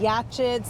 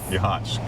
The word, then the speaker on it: Yachats: to pronounce it because they were saying yachts. They weren't sure how to pronounce it. But Ron, how do you help me remember how to pronounce yachts? Yahhats. Cuz when you're hot, you're hot. And when you're not, you're not.